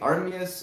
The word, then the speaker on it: Armias: It rhymes with amethyst, sort of. And amethyst is the color of your cup. Ooh. You're right. Armias, amethyst, Armias Plur.